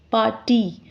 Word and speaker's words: party: The letter Y at the end of this word, although it is a consonant, but it is produced as a vowel sound. Y sound here, it is pronounced as E sound.